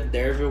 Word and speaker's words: Derfel: na verdade se escreve derfel cadar mas o autor faz questão de explicar que a pronúncia do nome dele essa letra F tem som de v então no caso seria dervil cadar mas enfim eu vou